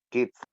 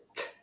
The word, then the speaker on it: kissed: Kissed, kissed, kissed, kissed. Kids. That one. So first the S and then the T.